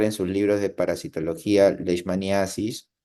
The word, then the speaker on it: leishmaniasis: ni Asis ustedes pueden llamarlo también les manios ambas formas de pronunciar o de escribir son correctas de acuerdo Entonces ustedes van a encontrar en sus libros de parasitología lesmaniasis o les manios entonces